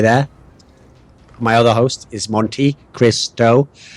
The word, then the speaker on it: MonteCristo: My other host is MonteCristo, and that's exactly how he wants everyone to refer to his name. It's actually three syllables.